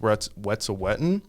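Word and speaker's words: Wet'suwet'en: a fundraiser for um i think it's pronounced what's a wetton and it was uh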